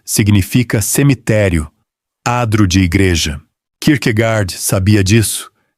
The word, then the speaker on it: Kierkegaard: Kierkegaard, dito a dinamarquesa, algo como Kierkegaard, com o R lá atrás e aquele travamento característico, informa de imediato que